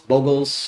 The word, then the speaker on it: Bogles: um bogles are bogles bogles however you pronounce it I prefer bogles because you know it you know you Boggle the mind and you Bogle it and then the Bogle is the creature keep that in mind